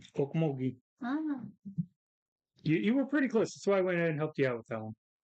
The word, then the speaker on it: Okmulgee: Think of how you pronounced Oklahoma. Okmogi? Okmulgee.